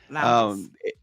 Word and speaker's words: Lowndes: Lowndes? Lowndes Yeah. County? Lowndes.